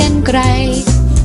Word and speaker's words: กรรไกร: ฮะ รอ ฮะ ก็ รอ หัน อ่าน ว่า กรรไกร ตา รารารา กรรไกร ค่ะ วัน นี้ ยัง ไม่